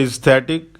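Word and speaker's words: aesthetic: इसका प्रोनाउंसिएशन है इस्थेटिक, और इसमें जो इसका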